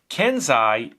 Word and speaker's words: Kensei: the kenzai rta by vinnie vape comes in kenzai stands for it's pronounced kenzai okay it stands for a master